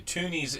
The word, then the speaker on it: toonies: quarters and toonies okay toonies is spelled like the number two knees t-w-o-n-i-e-s I kind of did it like cartoon tune t-o-o-n my bad on that so um